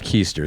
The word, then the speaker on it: Keester: Keester, pronounced Keester, so it knows your bit.